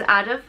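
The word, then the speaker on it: Adhamh: a lot of history the next name is adaf which means of the earth and it is spelled a-d-h-a-m-h and it's pronounced and it is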